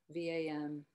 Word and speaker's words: Vam: Vishuddha chakra, and the Bija mantra is Vam, V-A-M, V-A-N-U-G-H. There's all different ways. And also the pronunciation is different, whether you're kind of north or south in location.